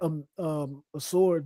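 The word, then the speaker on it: Ausar: So, I would have let Asor, that's how you pronounce his name.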